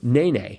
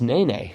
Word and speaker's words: nene: Bird whose name sounds like a hip-hop dance move, nene. Nene. So now I know how to pronounce nene. Uh-huh. Yeah, I was pronouncing it Nene. Yep. But Nene.